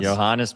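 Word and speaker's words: Johannès: Um, and uh, Marine Johannes, is that how you pronounce his name? Johannes. Johannes, baby.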